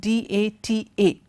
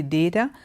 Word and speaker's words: data: This word is pronounced two ways. Some people say data, some people say data. Both are okay, but data is definitely better. Both words are acceptable that way, but data is better.